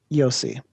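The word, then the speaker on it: Io sì: it's a y it's you'll see you'll see yossi yossi okay okay uh we also have speak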